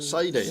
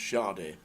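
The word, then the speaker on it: Sade: bigs smooth operator Sadi I know this one SI It is Sadi, isn't it? You're very, very close. It's actually pronounced shardy.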